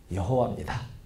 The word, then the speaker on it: 여호와: 이렇게 해가지고 거기에 모음을 붙여서 만든 발음이 여호와입니다. 이게 이제 좀 더 정확하게 발음을 하면 예호우아입니다.